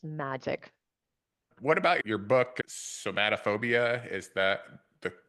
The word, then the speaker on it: Somatophobia: What about your book, Somatophobia? Is that the correct pronunciation?